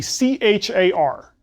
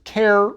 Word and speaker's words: char: the type is the CH AR which is pronounced either care or char either way is okay I usually say char